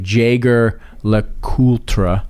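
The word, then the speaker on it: Jaeger-LeCoultre: and if you looked at it would be pronounced like Jager Le cultra um or that I think a lot of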